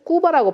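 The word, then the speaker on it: Cuba: 쿠바 사람들은 꾸바라고 발음합니다. 꾸바.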